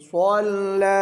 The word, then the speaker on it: صلى: या इसमें भी या स्वल्ला के आखिर में भी या खाली लिखी हुई है ना ये साइलेंट है ये पढ़नी नहीं है स्वल्ला अबदन इज़ा स्वल्ला अब